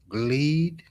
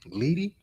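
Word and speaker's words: glede: And the gleed. Gleed. I think that's how you say it.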